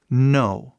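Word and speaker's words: know: temos esse k n Então esse k é muito simples ele simplesmente faz som de n m e mais nada o k que tá aí é mudo 100% completamente em todas as outras situações possíveis mudo mais nada por exemplo no isso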